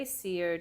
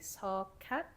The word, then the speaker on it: Seocat: So I say Seo just because it's easier for most people to pronounce. Yeah. But it's technically Seocat because Seoyoung is my Korean name and is my English name.